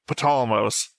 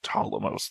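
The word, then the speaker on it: Ptolemaios: That's I was saying Ptolemos for the longest time. It's actually pronounced Ptolemos. The P is silent.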